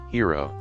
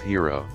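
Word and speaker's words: Hedera: all participants May Thrive hero even though I'll call it hero I think Hera is the correct pronunciation one official project of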